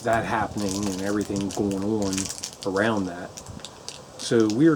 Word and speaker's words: Haute: it up online and a French woman said you pronounce h a u t e as o so I'm pronouncing it as o I figured she knew